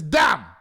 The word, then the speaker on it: dumb: I know the B is silent. But when it's this stupid, we must make the B heard and put 3 on it.